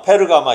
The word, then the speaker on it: 페르가마: 버가모가 우리나라 말로는 버가모인데 그쪽으로 하면 페르가마입니다. 페르가마 이렇게 발음을 해야 되는데 성경을 고쳐야 되는데 성경을 안 고쳐요.